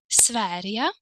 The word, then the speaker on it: Sverige: I hope that you remember this, that Sweden is a little bit exceptional because of the pronunciation, right? The G turns into the sound Y. Can you tell me the reason why? That's right, because we have a soft vowel E, right?